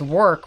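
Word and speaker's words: Werk: lacquer I grabbed is work which is spelt wer k not work it's work I know how you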